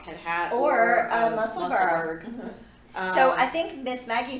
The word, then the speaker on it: Musselburgh: You know, because Is it like Edinburgh is spelled Burgh. So I think that there's supposed to be an H on the end of it in pronunciation, but it would make a super cute hat, Musselburgh hat.